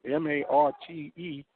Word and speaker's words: Marte: want to pronounce it I say m a r t e Marte Marte Mar it's not Mar because that would be an a h Tada M oh I'm